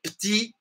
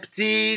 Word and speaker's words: petits: Comme des petits, petits soldats. Hein? Mesma coisa. TS no final aqui. Esse T, esse S, é mudo.